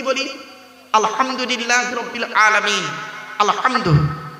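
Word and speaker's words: الحمد: আলহামদু, গলার ভেতর থেকে হে এটা উচ্চারণ করবেন, আলহামদু।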